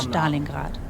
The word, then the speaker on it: Stalingrad: In the winter of 1942, the Wehrmacht lost more than 300,000 soldiers at Stalingrad. That's how it's pronounced.